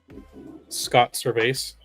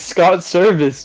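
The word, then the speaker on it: Servais: pronouncing it wait how do how do you pronounce uh the Mariners manager's name Scott survase what is it not that that's how everyone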